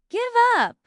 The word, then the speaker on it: give up: The stress is on up. Give up.